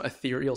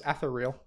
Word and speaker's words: ethereal: puts them on some ethereal spirit that you have rather than like your physical body is that how that's pronounced i thought it was ather real was that wrong that's funny i've been